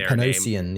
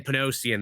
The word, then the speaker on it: Panosian: Uh Wolverine uh Paradise, a new five-issue mini-series by uh Panosian. I believe that's how you pronounce uh their Yeah. Dan Panosian, yeah. Yeah, Dan Panosian there.